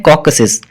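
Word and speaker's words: Caucasus: Number 1 reason हम करते हैं कॉकसिस। अब इसको प्रोनाउंस किस तरह से करते हैं, ये आपके सामने प्रोनाउंसिएशन इसकी लिखी हुई है, कॉकसस।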